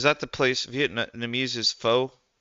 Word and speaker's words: pho: Faux pronounced like the beginning of fuck. Pho.